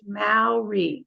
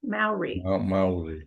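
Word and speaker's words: Māori: out it's pronounced Mal like mouth so the sound you make when you say mouth so it's and then reality Maori Maori Maori pronounce like now too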